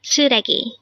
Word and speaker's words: 쓰레기: suii what does it mean today on one Korean